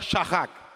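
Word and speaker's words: שחה: bien, c'est le mot shachak. Dites avec moi shachak. Dites avec moi shacha. Ça se lit chacha, mais ça se prononce shacha.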